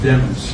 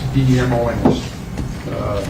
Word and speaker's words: Demons: His name is pronounced Demons, D-E-M-O-N-S. Lemons with a D is the way it was explained to me, and I know it's been pronounced different ways here, but it's pronounced Demons.